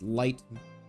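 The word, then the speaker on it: Leitmotif: mistaken yeah it's called Uh leite Motif pronounced light pronounced light light really this is wait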